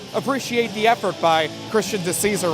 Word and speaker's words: DeCesar: by a fan that the correct pronunciation of the name is actually DeCesar.